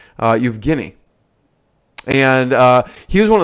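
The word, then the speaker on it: Евгений: And if you're a true Russian, you'd know how to pronounce his name, Evgeny.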